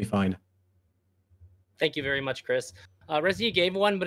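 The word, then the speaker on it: Krys: And my name is Chris. I go by Chris Speaks Everywhere. Chris is spelled K-R-Y-S.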